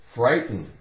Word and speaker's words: frighten: F-R-I-G-H, silent, T-E-N. So we have f-r-i, fry, fry, T-E-N, ten. Frighten, frighten. We don't really make much of a sound with that T. It's more like frighten, frighten. T is pretty much silent too.